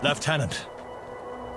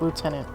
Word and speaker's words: lieutenant: know hmm ah lieutenant a decision must be made and made quickly if we were to have any chance of surviving i always find the funny how british pronounced lieutenant lieutenant mr woodruff might i